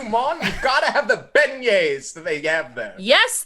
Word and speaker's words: beignets: You gotta have the beignets that they have there.